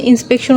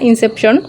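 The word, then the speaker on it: Inception: ল্যাঙ্গুয়েজের যেটা সেটা তো ইনসেপশনকে আমি বারবার হচ্ছে ইন্সপেকশন উচ্চারণ করি। এটা আসলে ইন্সপেকশন না ইনসেপশন। যাই হোক এটা হচ্ছে আমার জর্জের বইটা।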